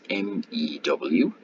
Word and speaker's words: mu: It looks like a U, but it's actually called mu, with pronounced MEW, and it means 10 to the minus 6 or 1 millionth, a fraction 1 millionth.